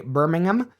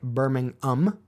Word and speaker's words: Birmingham: And when I say Birmingham, apparently the ham is more pronounced than I realized. A Brit would pronounce it more like Birmingham.